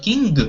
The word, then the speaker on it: king: Not king, but king, like a nasal sound, okay?